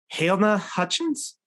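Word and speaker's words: Halyna Hutchins: But it was Helena Hutchins, I believe is how you pronounce it.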